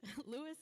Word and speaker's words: Lewis: of Ls and Sophia is it leis or Lewis okay great Lewis and Sophia Ellie's family